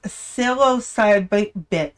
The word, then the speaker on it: psilocybin: Oh, the silo, but it's psilocybin. The P silent. The P in the beginning is silent.